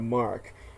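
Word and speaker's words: marque: it's spelled Maki it's not pronounced so it's pronounced letter of Mark uh where you know they're given awards for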